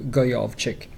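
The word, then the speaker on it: Djokovic: I have to say I butchered his name last time we said it just like orbits something like that yeah so I think it's closer to golf chick at the end of or at the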